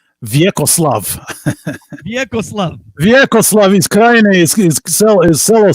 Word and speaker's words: Vjekoslav: Vjekoslav. Vjekoslav iz Krajine, iz selo Strmen, Kordun. Americans just called him. As is typical. And would always spell it. Yeah, Vjekoslav. V-J-E-K. The J always screwed him up.